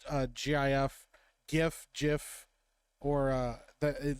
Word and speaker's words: GIF: arguing today it's G GIF it's spelled with a G you pronounce it with a hard g wow we're using hard